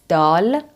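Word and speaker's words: دال: means ouch my head this one is called dal not like doll it's dull dull and pronounced d like a normal d examples which means do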